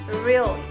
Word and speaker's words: really: Really. The correct pronunciation is really, starting with ra and ending with wa.